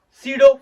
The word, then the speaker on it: pseudo: and JEE, that is pseudo force या pseudo force के नाम से भी कुछ लोग जानते हैं. नाम में पी साइलेंट होता है.